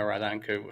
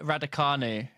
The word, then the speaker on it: Raducanu: you talked about Emma Radanku for the tennis. That's not how you pronounce her name, is it? Well, Emma Raducanu.